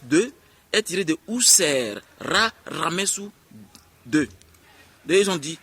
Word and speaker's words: Ramessou: Comme par exemple, Ramsès II est tiré de Ousser, Ramessou II. Ils ont dit Ramsès II.